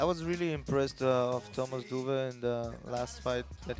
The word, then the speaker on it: Doeve: Am I saying it correctly, Doeve? Yeah, Yeah, nice. actually you do. Yeah, that's because I know the O and the E is sometimes very difficult for people from outside Yeah. Holland.